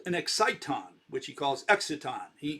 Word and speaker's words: exciton: uh and that's why it should be really pronounced exciton i like that better it also rhymes with phonon and uh photon exciton right they're all that's